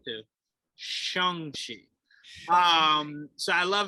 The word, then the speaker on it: Shang-Chi: it's not here because that's definitely how i pronounced it at first so i was like shang chi and then now i'm like oh sorry and then it was and then people thought it was shawn cheeks it's like no that's wrong too shongshi um